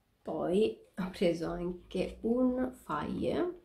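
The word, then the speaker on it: Fage: Poi ho preso anche un faie, so che si pronuncia faie, questo yogurt senza grassi, e pochissimi zuccheri e tante proteine.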